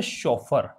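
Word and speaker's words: chauffeur: पूछा गया है आपसे शोफर तो देखिए इसका अगर स्पेलिंग पूछते हैं तो भी इंपॉर्टेंट है ये शोफर सी एच ए U double F ई यू आर इसका प्रोनंसिएशन क्या है शॉफर यह कहलाता है ड्राइवर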